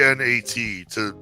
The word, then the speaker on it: gnat: The K is silent. Well, I think it's G N A T spell for NAT.